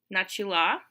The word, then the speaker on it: начала: I don't know if you've noticed, but the way I've been pronouncing я начала doesn't exactly match with the way that it's spelled. The way that it's spelled, it looks like it should be pronounced начала. But remember, vowel reduction. So here's kind of a weird reduction rule that we've seen. After ch, a reduces to sound like an e.